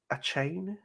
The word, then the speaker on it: Achane: How do you spell it, Ash? Achane. Achane? Devon Achani?